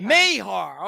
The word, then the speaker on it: Mayar: podcast which is close how do you say your last name Mayar May Mayar okay I love that